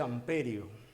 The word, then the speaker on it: amperio: en amperio en amperio aunque el nombre correcto de sant pere no del francés ampere en castellano se dice amperio si desean puede decir